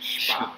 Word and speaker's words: Spar: You pronounce S like SH. Spar.